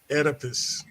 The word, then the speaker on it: Oedipus: I just wanted to address the old, well, how you pronounce this shit? Oh, Oedipus. somebody say it for me. Oedipus.